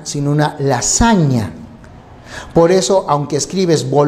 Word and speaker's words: lasagna: dígrafo gn por eso tú no pides una la signa sino una lasagna por eso aunque escribes por lo que si la pronunciación es bolognesi no dices champaña sino champaña